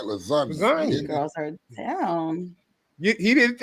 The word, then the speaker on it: lasagna: What the Yeah, You do not pronounce You do not use the say You do not use the word G in lasagna.